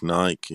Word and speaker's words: Nike: yeah yeah in the as in the fish pike you know you know pike nike it's pronounced on that but you know it's i suppose nike is american is it